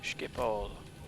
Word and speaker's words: Schiphol: Let's go to Schiphol.